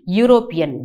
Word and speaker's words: european: again the same thing european yeah yeah you yeah is a consonant sound so it takes a european